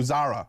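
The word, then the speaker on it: Zaira: Uh so Zara Zara, this is Z A I R A, but it's Zara apparently.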